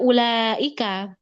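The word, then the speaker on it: أولئك: Ya, sekarang kita lihat ibu di kata ulaika itu ada wau kecil, ada wau di atasnya ada buletan kecil. Jangan sampai keliru ya. Buletan kecil ini menunjukkan bagaimana dia menunjukkan tidak terbacanya huruf alias secara lafaz itu anggap aja tidak ada ya.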